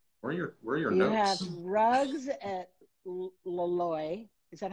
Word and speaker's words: Loloi: You have rugs at Loloi. Is that how I pronounce it?